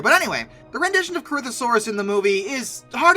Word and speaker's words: Corythosaurus: a problem come on corythosaurus or sometimes corythosaurus depends who you ask I guess I believe it's pronounced corythosaurus these were Hadrosaurus with